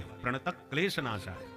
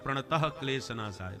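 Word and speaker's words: प्रणतक्लेशनाशाय: का क्लेश हरने वाले प्रत क्लेश नाशय बहुत से लोग चरण में बोलते हैं प्रत क्लेश नाय विसर्ग नहीं है प्रत प्रत क्लेश नाशय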